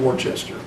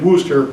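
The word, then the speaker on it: Worcester: Robert downer came out of Clark University and booster mass it's pronounced Booster not Worchester those were down east so but he never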